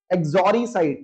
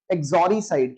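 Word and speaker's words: uxoricide: Next word you have is एक्सोरीसाइड। देखिए, यू इसके अंदर साइलेंट रहता है, यू को नहीं बोलते हम। एक्सोरीसाइड कैसे बोलेंगे? एक्सोरीसाइड।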